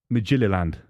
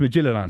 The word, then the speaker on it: Midtjylland: You got that wrong. It's Midtjylland. You said it wrong. You said it Didn't wrong. they beat you as well in the name Conference League? You're saying it wrong. You got to say it right.